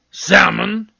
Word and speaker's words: salmon: should would then there's calm balm palm almond salmon calf half salve colonel colonel no sir i